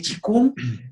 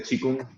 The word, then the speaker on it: Qigong: Bien, Qigong, como se escribe en el pinyin Qigong, le decía a los alumnos, si tú tienes un maestro de Qigong es porque aprendió de un libro, que en todo se pronuncia Qigong. Qi, energía, Kung, trabajo, labor energética.